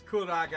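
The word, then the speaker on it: Curaga: level cira caga Kur it's kuraga kuraga okay if if you want to go with the Japanese oh look okay oh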